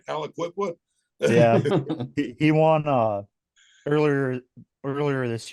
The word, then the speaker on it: Aliquippa: Yeah, Did I yeah, pronounce that right? Aliquippa.